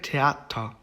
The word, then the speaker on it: Theater: DT, TH의 경우에는 트 발음을 냅니다. 그래서 첫 번째 단어는 Stadt, Stadt라는 뜻으로 이제 도시, 뮌헨도 하나의 Stadt고요. 그다음에 베를린도 하나의 Stadt가 되겠죠. 그 다음에 나오는 게 Theater, 요거는 이제 극장을 얘기하는데요.